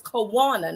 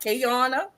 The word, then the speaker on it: Kawana: Her name is Kawana, not Kayana. And now all the other stuff, her name is Kawana, and she wears it proudly.